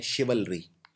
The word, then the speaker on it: chivalry: Exam में आया हुआ है, जिसको बोलते हैं शिवलरी। शिवलरी मतलब भी होता है बहादुरी। ये शब्द थोड़ा सा मुश्किल है प्रोनाउंस करना।